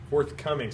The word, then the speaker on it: forthcoming: the word is forthcoming forthcoming stress on the sec on the second syllable fourth coming and it has three